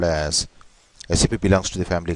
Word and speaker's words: SAP: aware of the terminology, they'll be calling it as uh, what you call SAP, but it's a very wrong way of pronouncing. You should be called as SAP.